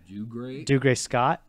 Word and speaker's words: Dougray Scott: Dougray Scott.